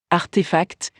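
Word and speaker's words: RTFKT: marque de mode digital rtf cat est prononcé artefact pour un montant non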